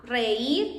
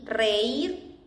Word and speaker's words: reír: I will guess that the hardest were the ones where you had, I would say to laugh, reír, because you have both vowels in the same syllable. A, reír, and the rest, hopefully it was easy.